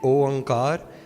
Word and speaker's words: Oankar: When you say Oankar, a good way to remember how to pronounce it is O as in O Rab.